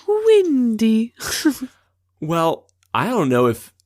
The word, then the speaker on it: Wendy: say her name because it's not Wendy it's windy well I don't know